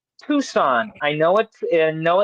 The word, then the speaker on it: Tucson: It's pronounced Tucson. I know it I know it looks funny on how it's spelled and how it looks. It's pronounced Tucson.